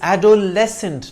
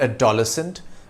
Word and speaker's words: adolescent: It's adolescent, not adolescent, as many say it.